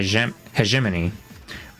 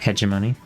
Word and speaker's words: hegemony: has identified as he heiman okay I think that's how you pronounced it Heim not hemony but I guess I could say it either way an indispensable concept for